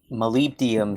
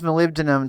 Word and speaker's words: molybdenum: Let's face it, molybdenum should count for more than one block of dirt.